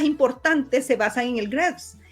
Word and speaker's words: GRESB: ASGs y el GRESB, o el GRESB, le dicen algunos, aunque la mayoría le pronuncia GRESB.